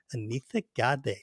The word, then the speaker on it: Anitha Gade: And by the way, Alan, you pronounce her last name Gade. Anitha Gade, just like that. And actually the TH, you have to do it correctly as well.